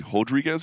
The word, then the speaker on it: Rodriguez: Rodriguez by the way he's Brazilian so that first R is going to be pronounced like an H we think we don't